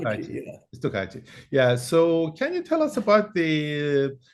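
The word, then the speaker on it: стукачи: Stukachi, is that how you pronounce it? Yeah, Stukachi, Stukachi.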